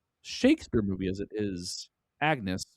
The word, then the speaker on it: Agnes: And this is less Shakespeare movie as it is Agnes, which I think the name's pronounced differently because of the era that it's in, but that's what her name is. Agnews.